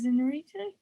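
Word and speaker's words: Iñárritu: Can you attempt to say his name in perfect Mexican Spanish, please? Yes, so it is directed by Alejandro Inarritu. Gonzalez. Inarritu? That's pretty spot on, to be fair.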